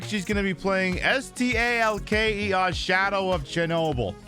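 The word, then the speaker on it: S.T.A.L.K.E.R.: going to be playing St a l k e r shadow of Chernobyl that just says stalker okay I'll pronounce it as stalker so since tonight's show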